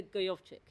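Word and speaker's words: Gojowczyk: to have to educate me on this, Peter Gojovcik. Exactly, that's the name, that's the pronunciation.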